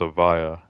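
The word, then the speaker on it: Evija: were pronouncing this as a vaa and I think I looked it up and it is technically pronounced avaa which silent Jays are not really a thing in British uh culture you know Lotus is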